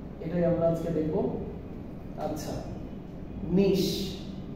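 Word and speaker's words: niche: আচ্ছা, নিশ, এই ওয়ার্ডটার উচ্চারণ হচ্ছে নিশ।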